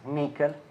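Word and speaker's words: NCCL: the NCCC and CCL actually nvidia people the pronounced nickel library which provides the opportunity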